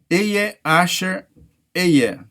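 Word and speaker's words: אהיה אשר אהיה: Em hebraico, pronunciado Ehyeh Asher Ehyeh.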